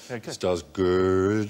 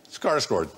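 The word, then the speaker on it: Skarsgård: original Swedish version and stellen scar with recently star good star good almost I understand yeah how how you pronounce it yeah scar G scar scord yeah that's but you do you know any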